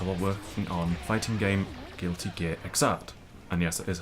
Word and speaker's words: Guilty Gear Xrd: out the answer while working on fighting game Guilty Gear Xrd. And yes, that is how you pronounce it, I checked.